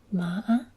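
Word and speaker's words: mã: the tripping tone and the way you pronounce this is descending and ascending except you want to pronounce a small break in your voice so this would be MAA so this means um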